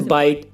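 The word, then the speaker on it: white: डब्लू के बाद एच है तो ये एच साइलेंट है ऐसे और भी एग्जांपल हैं जैसे वाइट वाइट माने सफेद वाट वाट माने क्या और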